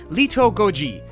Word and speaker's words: Little Goji: And I'm not good with pronouncing Japanese, but a more correct way to say his name would be Lito Goji.